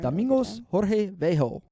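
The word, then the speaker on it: Domingos Jorge Velho: I I I think I know how to pronounce some of this no you're doing you're doing Domingos Jorge vejo so uh Domingos he's equipped with better resources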